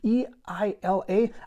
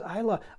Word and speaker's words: Eila: It's E-I-L-A. I pronounce it Eila just because it seems to be the American pronunciation, and after all, that's where I'm from.